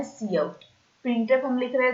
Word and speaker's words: cout: पे हम यहाँ पे सी आउट का यूज करने वाला है। सी आउट हमने लिखा जो है वही का वही हमें प्रोनाउंसिएशन के लिए भी यूज करना है, सी आउट, that mean COUT, सी